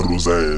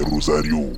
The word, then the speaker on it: Rosario: Non vieux père c'est pas rosin c'est Rosario. Voilà comme c'est un vieux là il sait pas prononcer sinon c'est Rosario comme dans les filles et toi tu vois non faut pas changer ton nom c'est Rosa.